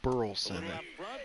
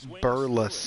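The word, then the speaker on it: Burleson: I hate how they say his name. It's not Burlson. It's Burles.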